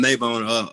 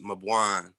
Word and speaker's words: Maban: May I've been Mayabbone all through school and everything, but it's actually pronounced Maban.